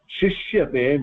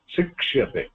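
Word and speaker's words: शिक्षते: இதான் நான் வந்து தப்பா ப்ரொனவுன்ஸ் பண்ணேன் போன கிளாஸ்ல. சிஷ்யதே சொல்லி சொன்னா, இட் இஸ் நாட் சிஷ்யதே, இட் இஸ் சிக்ஷதே.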